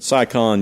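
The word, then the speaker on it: Si Kahn: all that stuff as a teenager, and then Cy Khan used to come through town on a pretty regular basis. How do you spell that?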